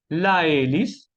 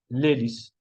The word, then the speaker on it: l'hélice: La hélice, vamos a decir l'hélice, ¿ok?